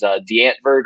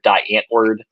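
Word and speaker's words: Die Antwoord: going to remember is D'Antwoord, or as we pronounce it here, D'Antwoord. But it's Dieantwoord. It's D'Antwoord is the way they pronounce it, I guess, over there.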